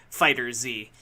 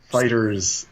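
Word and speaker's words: FighterZ: But there is the very because of the capital Z, there is the very strong inclination to Fighter Z. But that's not how you're supposed to pronounce it. Fighters.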